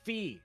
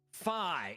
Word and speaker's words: Fi: Is it Fee? Is it Fi? Is it Foe? Is it Fum? It is officially rhyming with Pi. Fi is our guy.